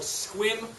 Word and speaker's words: Sequim: last year you think all three it's called squim rare plants I'll spell that for you because it's in Sequim Washington